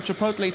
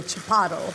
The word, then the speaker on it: chipotle: I'm going for some chipotle chili sauce yes yes on everything okay I didn't know how to pronounce chipotle for the longest time and I kept on calling a Chaparro Chaparro it's such a